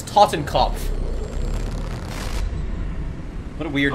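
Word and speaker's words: Totenkopf: It doesn't sound right in English. Say it correctly. His name is Tottenkopf.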